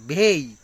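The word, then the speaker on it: bay: তারপর বি এই ওয়াই, আমরা বলি বে, এটা বলতেছে বে হবে না, এই এর উচ্চারণে রস্যই আসবে, বেই, বেই।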